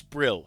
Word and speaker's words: Brill: The name's Bril. Rhymes with kill and swill.